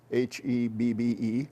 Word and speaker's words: Hebbe: My name is Hebby, Hebbe, rhymes with Debbie, which is what I tell the kids in school.